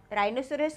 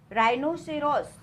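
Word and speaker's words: rhinoceros: लिखा हुआ है रहीनोसेरॉस राइनोसेरॉस कौन है एनिमल है ओके राइनोसेरॉस इसमें भी हमने हा बोला क्या नहीं बोला ठीक है राइनोसेरॉस इसी तरह बोला हा को साइलेंट किया ठीक है ये बहुत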